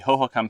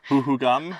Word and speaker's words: Hohokam: We've learned a huge deal about the Hohokam Pima National Monument and the people that lived there.